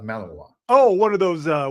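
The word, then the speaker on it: Malinois: It's called pronounced Malavoir.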